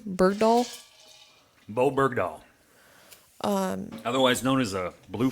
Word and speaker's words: Bergdahl: And how do you pronounce that tourist name? Bergdahl? Bo Bergdahl.